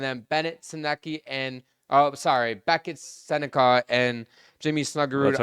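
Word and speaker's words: Sennecke: And then Bennett, Sinecki, and Beckett, Seneca, and Jimmy Snuggerud That's how you pronounce it, Seneca?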